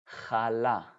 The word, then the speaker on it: challah: Again, in English, it's kind of hard to pronounce it. It's hummus, but hummus, we say. Or the classic challah.